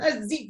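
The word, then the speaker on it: ziip: That was it's Z-I-I-P, but it's pronounced Zeep.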